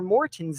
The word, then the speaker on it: Maurten: And that A is pronounced O-A-R. So it's Maurten.